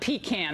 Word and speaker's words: pecan: first of all in Connecticut we call it pecan that's how bad we are you know you've got you guys have the right pronunciation down south Sarah Huckabee Sanders have a